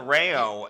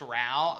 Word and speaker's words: Rao: Another Rayo. Now, I love that It's one. pronounced Rao. I thought it was Rayo too. It's Rao. I don't care what it says.